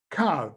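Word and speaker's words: קוה: how it's written but it's pronounced kav the hay is silent the same pussac shows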